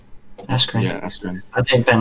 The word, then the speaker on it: Askren: I think Ben how do you pronounce his surname? Askren. Askren.